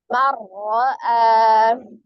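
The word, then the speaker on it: مَنْ رَأَى: Sini berarti ada nun sukun bertemu dengan huruf ra. Berarti bagaimana cara membacanya? Langsung diidghamkan, dileburkan, ditaikkan ke huruf ra. Suara nun sukun hilang. Berarti tadinya man menjadi langsung mar. Cara membaca huruf ra-nya berarti dengan double-nya itu, dengan tasdidnya itu tidak terpisah karena sifat huruf ra yang mengalir sebagian. Jadi dibacanya mar'a.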